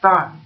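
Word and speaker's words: 石: Shi, in here it pronounces as dan, and it is a unit of weight.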